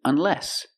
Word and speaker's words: unless: Or I can use unless. Put the stress on the second syllable. Unless.